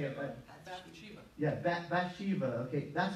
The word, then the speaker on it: Bathsheba: by Shiva I can't say it but yeah Bathsheba okay that's how you say it in English